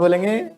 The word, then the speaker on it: belle: बोलो, Sonia madam is नॉट अ बैल, कैसे बोलेंगे? Sonia madam is नॉट अ बैल। तो कोई ब्यूटीफुल लेडी हो उसको बोलते बैल, स्पेलिंग इसकी BELLE होती है, लेकिन उसको बोलते बैल।